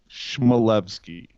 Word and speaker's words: Chmelevski: And he said, "Chmelevski." It's not four syllables. It's three. Chmelevski.